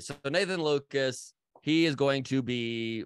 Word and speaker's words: Lukes: up either way, but his name is pronounced Nathan Lucas, even though it is spelled Lukes. I'm going to continue to go with Lukes.